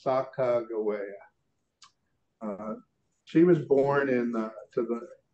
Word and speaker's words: Sacagawea: There is Sacagawea, and I'm using the Shoshone pronunciation of her name. A lot of us are familiar with going Sacagawea.